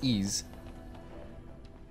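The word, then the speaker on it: Ys: And I'm pretty sure it's pronounced Ease. Because there's this band called Woods of Ypres, and I know that's how you pronounce their name, so I figure it's the same kind of pronunciation, sort of.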